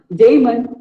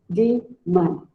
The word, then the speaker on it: demon: It is not daemon or demon, it is demon. Demon.